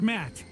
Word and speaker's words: Matt: feet by what though the name's matt the second t is silent sure sounds like an